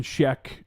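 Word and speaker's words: Schaech: Jonathan Sheck, I think that's how you say it. Sheck, yes.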